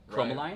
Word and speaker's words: Chromaline: We've got, coming up here in the next week or two, we've got Chromaline. Rhymes with Bromoline, yeah.